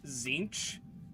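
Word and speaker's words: Tzeentch: okay okay so he it's pronounced zinch but it's spelled t-z-e-e-n-t-c-h you know that's how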